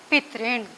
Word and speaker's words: पितृण: ये वाला जो री इसे होता है, इसका उच्चारण री है, इसे हम री कहते हैं, ना कि र।